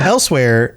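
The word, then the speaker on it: Elsweyr: Well, Elsewhere has kind of a unique spelling for something that you pronounce as elsewhere, and they kept it.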